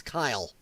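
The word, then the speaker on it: Kiley: It's spelled different than that. K-I-L-E-Y. That's Kyle. That is Kyle.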